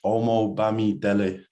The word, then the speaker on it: Omobamidele: It's Omobamidele.